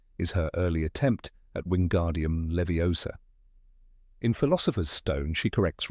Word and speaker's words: Wingardium Leviosa: her early attempt at Wingardium Leviosa. In Philosopher's Stone, she corrects Ron on the pronunciation, insisting it's wingardium leiosa. Make the gar nice and long.